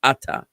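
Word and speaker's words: אתה: word here it's actually the emphasis is on the first syllable ATA um but it means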